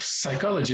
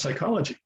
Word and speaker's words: psychology: And it's not pronounced psychology, it's pronounced psychology.